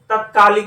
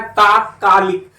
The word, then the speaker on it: तात्कालिक: इसमें आपको तत्कालिक ढूंढना है। तो जो इसका शुद्ध उच्चारण होता है वो होता है तात्कालिक।